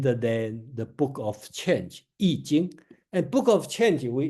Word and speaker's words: Yijing: Okay, so remember this I pronounced as Yi, not I Ching, it's Yijing.